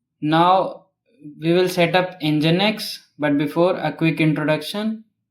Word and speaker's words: Nginx: It is spelled as Nginx but pronounced as Nginx.